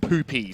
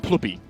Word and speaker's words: Ploopy: Apparently it's not Poopy, so no Ploop of the game. We're going to call him Ploopy.